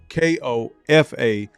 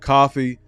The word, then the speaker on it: Kofa: Kofa, not coffee, not, not Kofi, or any variation thereof. Kofa rhymes with sofa.